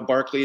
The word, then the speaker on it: Berkeley: why he matters today berkeley barkley as we know barkley is the british pronunciation barclay had strong ties